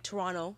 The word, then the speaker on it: Toronto: Toronto I was getting Toronto you don't pronounce the T by the way if you want to sound like you belong wait this is why